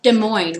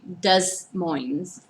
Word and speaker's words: Des Moines: the end of Illinois it's like Des Moines right I was dealt with okay Des Moines I've heard people say does Moines this planes do you say DesPlaines isn't a pronounced a plane who pronounces it deploying no I mean following the same like chewy but I mean like if you're gonna follow seem like template I don't know same like Des Moines you don't save dis moines wait you say this